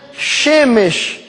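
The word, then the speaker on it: שמש: das festas pagãs é o sol queem hebraico se pronuncia chemes tá porque para os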